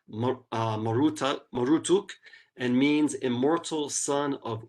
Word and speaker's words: Marduk: They say produced, his name is to be pronounced Marutuk, and means immortal son of Utu, or bull calf of the sun god Utu, right?